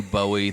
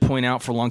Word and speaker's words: Bowie: David Bowie consistently pronounces his name Bowie the way we're doing it right now. But British people would typically see that name and say Bowie.